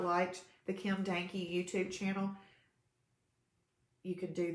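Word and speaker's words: Dahnke: There's an H there. D-A-H-N-K-E. The H is just silent. You know that sometimes people want to say my name. They'll say Kim, and they're about to realize they're about to call me a donkey.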